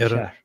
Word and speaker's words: Iran: Iranians oh oh yeah how do you actually pronounce this Armen Iran Iran okay yeah okay yeah nice so yeah Iran